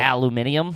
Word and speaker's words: aluminium: Yeah, we don't say aluminum foil. Aluminium. Yeah, we're not scientists. That's how the British say it.